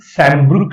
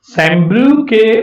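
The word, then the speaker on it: Sambrook: त्याचं नाव आहे Henry सॅम्ब्रुक left. Spelling तरी भयानकच आहे, हेनरी सॅम्ब्रुक लेफ. सॅम्ब्रुके म्हणायचं नाही, सॅम्ब्रुके म्हणायचं नाही, असं म्हणायचं नाही, लॅफ लॅफ. सॅम्ब्रुक ईचा उच्चार नाही, सॅम्ब्रुक लॅफ, हेनरी सॅम्ब्रुक लॅफ.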